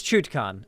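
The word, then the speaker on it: Chutkan: can't speak right now it's chutcon chutcon chuchcon it's chutcon okay a pellet it's pronounced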